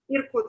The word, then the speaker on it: Irkutsk: So were you educated then in, how do you pronounce it? Irkutsk. Yakutsk? Irkutsk.